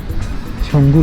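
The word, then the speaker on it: Tsomgo: Lake सब बोलते हैं, लेकिन स्पेलिंग के हिसाब से देखो TSONGO, सोंगो को है ना, लेकिन उसको प्रोनाउंस करते हैं छंगो लेक।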